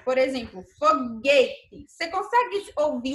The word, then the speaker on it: foguete: ir e s u do g1 não é pronunciado por exemplo foguete você consegue ouvir o som do saindo da minha boca foguete e não né e se eu tirasse o